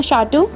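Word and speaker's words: château: इसका प्रोनाउंसिएशन है शाटू या शाउटिक्स।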